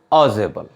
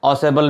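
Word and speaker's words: Ausable: First one is Fowler, the second one इज ऑजेबल, इसको ऑसेबल भी pronounce करते हैं, एंड the third one इज मैक्स।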